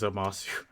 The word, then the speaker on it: Zamasu: You said it wrong because it's Zamasu.